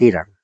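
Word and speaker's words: Hiram: a la pobre h y no se le pronuncia Pobrecita debe estar triste la H se llama Irán pero en inglés es hiran era hijo de una mujer viuda de la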